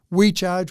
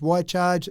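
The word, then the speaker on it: Wi-Charge: So We Charge, Why Charge, it's spelled W-I-charge.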